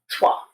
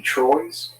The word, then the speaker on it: Trois: Now, the movie is called Trois, three in French. Trois. But all the workers were getting this question. Hey, you got that movie Troy's?